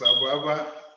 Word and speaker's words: Abba: Don't mind, you got it. It's Abba.